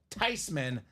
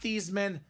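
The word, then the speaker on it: Theismann: family last name she says no it's actually pronounced tyman not thean not Theisman should be tyman so the proper pronunciation of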